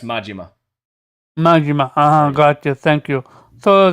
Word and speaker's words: Majima: It's pronounced Majima.